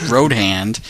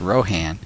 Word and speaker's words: Rohan: Not Roadhand. It's Rohan.